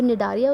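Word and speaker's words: Cnidaria: जो निडारिया उसमें सी साइलेंट है कि नहीं ये प्रोनाउंसिएशन में मैं भी श्योर नहीं हूँ, बट फॉर my ease I call it निडारिया, बट it starts with a सी, ठीक है, या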